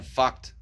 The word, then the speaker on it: Fucht: I know it's hard to read, but it looks like it says F-U-C-H-T. And it does. His name's Jan van Fucht. I reckon he spent a fair bit of his life saying, no, it's pronounced Fucht.